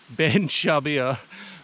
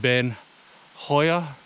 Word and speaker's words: Beinn Chabhair: you say this so it's spelled shabir wrong ben shabir but it's pronounced ben hoya which means hell of the hawk but yeah